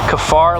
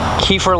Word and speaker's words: kaffir: pretty good so i think the product correct pronunciation is kefar lime or kefir lime now this is a lime tree that